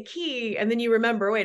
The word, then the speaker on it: Quay: forces and started uh key entertainment which is spelled qua y like qu would